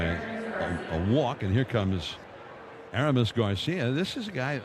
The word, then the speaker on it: Aramis: with the Giants, that he doesn't like to have it pronounced Aramis. He likes to have it as Aramis. That's the way he grew up.